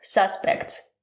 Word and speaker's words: suspect: So if it's a verb, the stress is different.